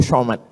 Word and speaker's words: Somad: Enggak salah secara bahasa Indonesia, tapi secara bahasa Arab. Bahasa Arab itu ada huruf za, ada huruf ja, ada huruf d, ada huruf dza. Dza. Letakkan ujung lidah di atas gigi. Atas gigi atas.